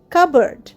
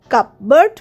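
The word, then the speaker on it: cupboard: কাবার্ড সি ইউ পি বি ও এ আর ডি কাবার্ড এখানে কিন্তু পিটা সাইলেন্ট সেইজন্য আমরা কিন্তু কাপবার্ড বলছি না কাবার্ড বলছি কাবার্ড মানে আলমারি বুক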